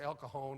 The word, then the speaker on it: El Cajon: said i'm going to el cajon and and san jose she said out here we pronounce that j like an h it's el cajon in san jose how